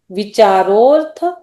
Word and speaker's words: विचारोर्थ: ये अ जो है ना यहाँ ये साइलेंट है, एकदम पूरा अ मत बोलो। विचारो अर्थ व्यंजन योग संक्रांति, विचारो और अर्थ ऐसा मत बोलो इसको, ये साइलेंट।